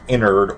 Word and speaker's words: Ennard: Because I think it might be ENNARD, pronounced more like INNARD or INNARDS.